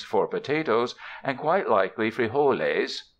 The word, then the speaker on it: frijoles: potatoes and quite likely free whole A's pronounced frijoles for beans for saddlebags